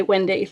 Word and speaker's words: Wendy: And so I always say, if they don't get it, I say Wendy, like Peter Pan, because that's where Wendy came from.